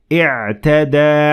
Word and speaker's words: اعتدى: But if I started at the word اعْتَدَى, I will have to pronounce the alif completely and I will say اعْتَدَى عَلَيْكُمْ.